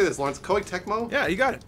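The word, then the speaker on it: Koei Tecmo: Dark Souls how do you say this Lawrence Co techmo yeah you got it co Techo is publishing this right now exclusively for the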